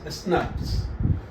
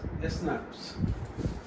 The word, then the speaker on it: snRNP: it SNR NPS and this snrnps is pronoun pronounced as snaps so you see you don't write SNR you write as SN uh SN rnp but you pronounce it as snaps okay now what I have said said that